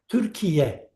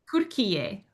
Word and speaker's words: Türkiye: So decides to can you teach us men can you teach us yes, the pronunciation? Turkiye Türkiye. with T, Türkiye, Türkiye.